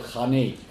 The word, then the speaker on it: Khanate: And you pronounced it as Khanat, but we would call it Khanate.